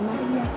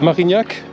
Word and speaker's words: Marignac: C'est pas Marcignac, je dis, c'est Marignac. Marignac.